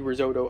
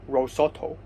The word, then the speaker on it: risotto: year she had made risotto uh like many times for dinner and um for the last three times she had made risotto i have to remind her that it's called risotto not rosotto so and and before